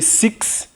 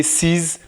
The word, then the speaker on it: six: Let me tell you about this, because you might be tempted to pronounce the English way as the spelling is the same. In French, we say six. We don't say six. We don't say six.